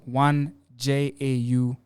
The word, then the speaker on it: 1JAU: It's 1JAU.